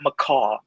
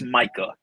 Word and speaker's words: Micah: It's not McCaw, it's Micah. Mike Parsons, not McCaw Parsons.